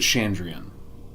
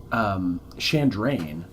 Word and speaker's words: Chandrian: He pronounces it Chandrian. But with the poem in the book, it doesn't rhyme. Like, there's that poem in the book, and Chandrain rhymes with the line before. Oh, okay. So I say Chandrain.